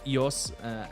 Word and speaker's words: Ios: Greek island called um iOS or EOS as I pronounce it but it's spelled like the Apple iOS I own this club